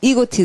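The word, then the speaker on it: egotism: 좀 아셔야 돼요 아 이거를 에라고 읽지 않고요 잠깐만요 명사 그냥이고 할 때 이고라 하는데 이고티이라고 할 것 같습니다이고 맞아요 이고티 그니까 고라는게 자면서 그다음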